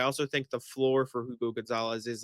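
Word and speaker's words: Hugo González: I just called him Hugo. I have done it for the past 2 weeks. Yeah. So I need to like, I'm just like snapping myself into it. Hugo Gonzalez. You don't pronounce the H.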